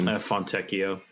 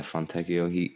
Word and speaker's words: Fontecchio: Fontecchio. Yeah, Fontecchio.